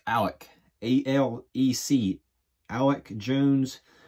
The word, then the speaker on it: Alec: So starting at catcher, it's going to be probably Alec Jones, which is not Alex. It's Alec, A-L-E-C, Alec Jones.